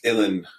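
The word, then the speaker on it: uilleann: something it's it's pronounced Ellen and uh oh yeah rhymes with chilling and uh it's it's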